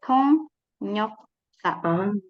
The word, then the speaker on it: 통역사: Nah, cara bacanya di sini dibaca sebagai 통역사. Jadi ketika iyeng ketemu sama yo, maka iyengnya jadi ionya jadi nyo gitu ya.